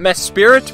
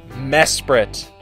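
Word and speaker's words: Mesprit: round pick we've got mess prett Noah does not mess spirit because I learned that misspelling during the draft don't spell it like mess spirit kids anyway mess sprit is a pretty interesting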